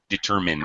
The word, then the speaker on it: determined: Carmen, little pronunciation. Determined. Min, not mine. Determined.